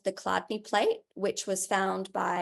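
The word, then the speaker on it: Chladni: effects of Soundwave phenomena this is called the cadney plate which was found by a guy called Hans Jenny German pronounced cadney and it's a basic simple structure of a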